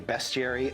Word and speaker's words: bestiary: For instance, there Bestiary? are Is that how you space pronounce that? clowns. How would you pronounce it? Bestiary. No. It's bestiary? That is, Okay, fine. it's beast is with an EA and bestiary is just with an E.